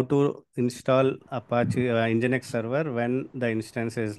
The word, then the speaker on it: nginx: For now, it's apt get update, apt get install, nginx. This is pronounced as nginx.